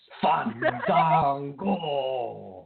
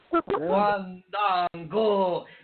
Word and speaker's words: Fandango: going to talk about Fandango, you have to make sure to say his name right, Dustin. It's Fandango. You have to do it like that. Deanna will do it. She'll show you. Oh. Fandango.